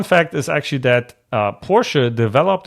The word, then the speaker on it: Porsche: let's talk about Porsche love Porsche and it's pronounced Porsche okay for if I ever hear anybody say Porsche unsubscribe right away I don't want you on